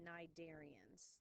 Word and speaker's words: Cnidaria: we have is the cnidarians the sea is silent so we have phylum Cnidaria so your corals your hydros